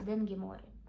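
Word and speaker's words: Daeng Gi Meo Ri: Ми не могли залишити клієнтів без того самого бренду, який ніхто не знає, як правильно читається, але я вам скажу, він читається Ден морі.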